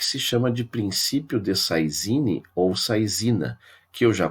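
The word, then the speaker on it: saisine: Princípio de Saizine, Saizine do francês, que seria a pronúncia correta, seria Saizine, né, e foi aportuguesado para Saizina, que é esse princípio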